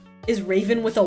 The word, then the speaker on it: Ravyn: Yeah, that's how it's spelled. That's it. That's Raven.